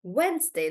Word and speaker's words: Wednesday: I told you that it's just Wednesday that's pronounced differently and it's not really wed day but just Wednesday like when is it